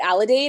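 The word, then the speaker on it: Aledade: the vice president of growth at is it allidate am i pronouncing it right there mike that's correct perfect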